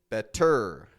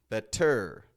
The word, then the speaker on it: better: T sound T better the common way for Americans to pronounce the word better has it stronger on the beginning and that goes to